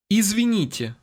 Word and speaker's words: Извините: Извините. Did you hear the "yeah" sound at the end of that word?